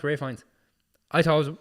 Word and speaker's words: Ralph Fiennes: His name It's His name's actually pronounced Ralph Fiennes. I thought it was Ralph Fiennes all the way.